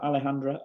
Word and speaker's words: Alejandra: be joined by Alejandra Alejandra did I pronounce that Alejandra okay was that you did yes you did